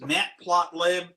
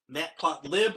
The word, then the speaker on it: matplotlib: does plotting and graphics matplotlib matplotlib orbit plot live depending on how you like to pronounce it uh has a whole